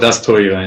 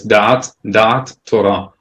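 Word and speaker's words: דעת תורה: It's usually called das Torah in the Ashkenazi pronunciation, but it's dat Torah, and the knowledge of Torah, but it's a concept again.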